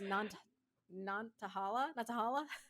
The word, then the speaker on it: Nantahala: I had the pronunciation up in the back. The National Forest, Nantahala.